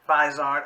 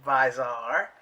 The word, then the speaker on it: Bizarre: palette from these are I heard that's the way you're supposed to pronounce it not wise art or busy art it's bizarre and this is a